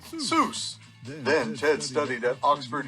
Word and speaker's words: Seuss: here's a fun fact Zeus is supposed to rhyme with voice not Goose the doctor never minded that people mispronounced it a creative kid Dr Seuss was born Theodore Ted Zeus Geisel on March 2nd 1904.